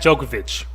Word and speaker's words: Djokovic: he not tell the truth then you got jokovic if i'm not mistaken yeah novak is am i saying it right um what's his first name novak we'll talk about novak djokovic thank you you know i'm terrible novak so